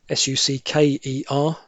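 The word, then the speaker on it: succour: S u c k e r but pronounced the same as sucker.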